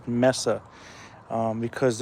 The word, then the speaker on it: Mesa: um and for those who pronounce Messa as Mesa it's really pronounced ounc Messa um because it's not spelled m a Ys